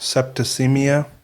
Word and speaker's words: septicemia: Septicemia.